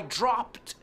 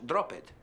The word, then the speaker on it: dropped: I dropped something. Cuidado con la pronunciación, también no es drop it, dropped. Pronúncialo en casa, drop con T al final, dropped.